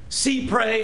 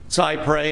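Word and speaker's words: cy-près: C prey. I know people who call it cyp prey and I have great respect for them, but that's not really the way it's it's pronounced. And if my students mispronounce it on the final, I take off.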